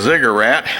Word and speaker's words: ziggurat: is they say well it must have been a cigarette not a cigarette but a cigarette okay uh or zigger rat if we want to spell it out there is ziggurat okay if only in